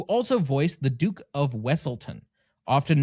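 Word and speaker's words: Weselton: Did you know Duke Weaselton is voiced by Alan Tudyk, who also voiced the Duke of Wessleton, often mispronounced as Weaselton in Frozen.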